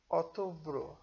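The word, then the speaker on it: outubro: আগস্ত August September September অতব্র ও তব্র October অতব্র October উচ্চারণটা হবে ও ইউ ও টি ইউ তু ও ব পি আর ও ব্রু অতব্রু October November November December December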